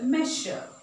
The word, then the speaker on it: measure: So, there are some words where S is followed by U-R-E is pronounced as ish. So, it's pressure, measure, closure.